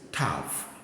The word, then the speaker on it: Tav: move on this is Tav T and whether you see this or that it is pronounced as Tav T Tav Tav Tav so these are the